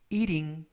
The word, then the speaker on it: eating: 발음은 eating, eating이라고 부드럽게 발음하시면 좋겠고요.